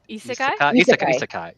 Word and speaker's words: isekai: How do you pronounce that? Is it Isekai? Isekai.